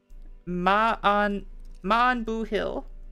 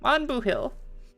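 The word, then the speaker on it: maith an buachaill: or good on you the pronunciation is ma man booill man booill gotcha Shan said Jack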